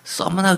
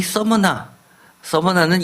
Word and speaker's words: 서머나: 오늘의 말씀 요한계시록 2장 8절에서부터 11절까지는 유명한 그 서머나 교회에 대해서 편지를 보내시고 계십니다. 서머나 교회, 서머나라는 말은 아마 익숙하지는 않을 겁니다. 서머나가 영어식 발음이지만 예를 들어서 스미르나라고 읽는 데들도 꽤 있습니다.